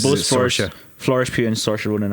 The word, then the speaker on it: Saoirse: Where like Saoirse Ronan's this sort of person, and you're like, oh, this one character could Who's Saoirse Ronan? She pronounces it Saoirse.